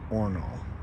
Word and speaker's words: horno: Spanish oven right here the horno that has collapse not says or no Spanish for oven pronounced ornal to make some really